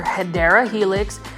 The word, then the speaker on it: Hedera helix: here was an actual hedra Helix guys or hedera Helix um is the proper way to pronounce it this is an